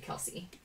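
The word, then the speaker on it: Kelce: said travis kelsey said his name's actually pronounced travis kels and that he just goes with it dhw's pete alonso justin berlander future hall of famer insert so they asked his mom and his mom said kelsey so i don't know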